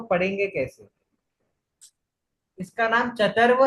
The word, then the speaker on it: चर्त्व: बस बस अब मैं बोल देता हूँ, चतर्व चरत्व नहीं है, चरत्व नहीं है, चतर्व चतर्व है। क्योंकि त के बाद में वो है, उसके ऊपर रेफ का सिंबल है, तो त के बाद में र का उच्चारण आएगा ना।